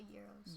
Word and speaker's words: gyros: night and you had gyros. Yum. I love those. Amos. Churros or euros? Euros. Well, there's a discussion amongst people as to how they pronounce it. Some people pronounce the G, some people don't.